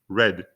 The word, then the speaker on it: read: the town library note the base and the past tense of the verb read are actually spelled the same but pronounced differently in the present tense